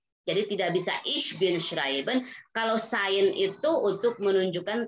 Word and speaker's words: schreiben: Di situ ada EI dibacanya I. Schreiben.